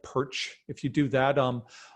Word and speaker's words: Pyrcz: name don't be uncomfortable just say it like perch if you do that